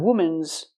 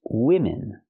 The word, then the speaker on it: women: see three three women not women's it's women use the short I sound for both syllables I like this is